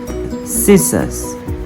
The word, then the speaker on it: scissors: next is the letter C so the letter C is often silent after the letter s for example muscle scissors neck fascinate scene but